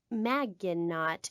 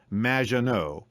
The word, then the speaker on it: Maginot: mispronounced my name it's which rhymes with badge uh as in duh and no as in more than you maginot anyway thank you for